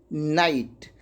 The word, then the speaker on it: knight: जैसे देखिए KNIGHT, के बाद क्या आ गया, एन आ गया और उसके बाद क्या आ गया, वॉवेल आ गया। तो यहाँ पे के क्या हो जा रहा है, साइलेंट हो जा रहा है। तो इसको क्या पढ़ेंगे, नाइट।